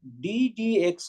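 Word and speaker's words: d/dx: It is not upon, it is not pronounced as upon, it is pronounced as either d dx of x square or dx square dx, and it is this.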